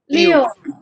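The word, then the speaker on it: 六: about six nobody right sticks hmm can you pronounce it is it you leo very good leo yes leo yeah leo very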